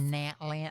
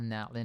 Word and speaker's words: Natlan: Nat land. I don't like I don't like the way they pronounce some of these places in in a zuma instead of inazum. Nat land instead of natlin.